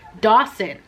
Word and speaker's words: Dawson: cut ties with shane dawson dawson why do i keep mispronouncing his name oh my god dawson it's not that hard it's like dawson's creek it's not that hard i don't know why